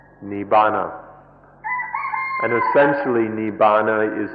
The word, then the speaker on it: Nibbana: called Nippon int I navona in the Pali language and Nirvana in Sanskrit it's one word by these pronounce or has different forms in the different languages Nibbana and essentially nee Bona